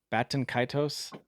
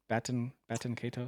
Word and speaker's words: Baten Kaitos: Baten Kaitos. Baten Kaitos.